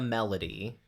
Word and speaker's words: melody: not stressed, and then when you get to melody, it's dum da dum, dum da dum. So it's melody, melody, or dum da da, melody.